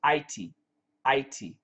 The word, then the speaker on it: Haiti: you know the country Haiti Haiti when I lived in Korea the prononciation was ity ity Haiti in in the Caribbean